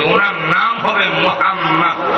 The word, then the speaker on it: মোহাম্মদ: কইরা যায় আল্লাহও বলছেন আমার নবীর নাম উচ্চারণ করবা মিমের উপরে মিম উঠাইয়া দিয়া ওয়াজিবুল জাত বড় ওয়াজিব মোহাম্মদ এইভাবে জাতারা ধরে উচ্চারণ করতে হবে সুতরাং তার নামকে মোহাম্মদ